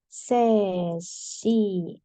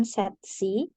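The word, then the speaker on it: 세 시: cara bacanya Ya rabun cara bacanya t itu pakai angka asli berarti set nah tapi kan ada satuan SI berarti sesi Oke bukan set C Oke lanjut 10 menit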